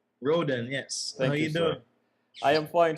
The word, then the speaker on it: Rhoden: road and is not a correct way of pronouncing your name yes let's go Rudy Rudy wrote your last name rodent rodent yes Peter I am fine thank you but